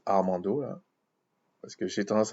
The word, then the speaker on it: Armando: Bon, il se prononce Armando, là, parce que j'ai tendance à le prononcer autrement, Armando.